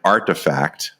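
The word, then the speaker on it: RTFKT: Studios they bought uh I understand that the kids pronounce that brand artifact um they make digital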